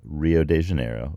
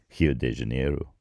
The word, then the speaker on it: Rio de Janeiro: miles I believe from Rio de Janeiro or hi de Janeiro that for all of you listening in Brazil tell me if that sounded a little bit right I'm practicing so yeah